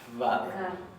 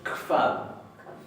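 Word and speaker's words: hvað: Recuerden que esta HB, especialmente en todas las pronombres interrogativos, se va a pronunciar como una leve KF. No se va a pronunciar vad. Se va a pronunciar kvad, pero más suave.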